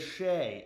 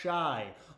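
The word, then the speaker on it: Shai: It is Shea. It is not Shy. All you guys say Shy Gilgeous-Alexander. It's Shea Gilgeous-Alexander.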